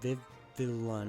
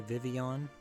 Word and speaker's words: Vivillon: I'm gonna butcher the name, but Vivillon. I used to say Vivian, but I don't think that's how you say it.